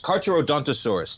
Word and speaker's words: Carcharodontosaurus: Can you pronounce that for me? Carcharodontus? John Carcharodontus? Dontosaurus. Carcharodontosaurus, Tommy.